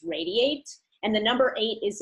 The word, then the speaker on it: Radi8: our adi and the number eight but it's pronounced radiate and the number eight is in there as